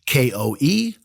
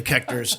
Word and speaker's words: Koechner: Yes, I realize it's a mispronunciation because I come from a town of 2,000 people that had 35 German families. How could they forget that the OE never makes the short E sound?